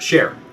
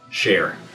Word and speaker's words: Shaar: from churches here at share question number one how do you say the name share share share share it's not shar it's not sha r it's share question number two what